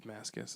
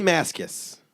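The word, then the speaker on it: Mascis: Like he was like the guitar player for the night and they said Mascus and I was like so that's how you pronounce it. J Mascus.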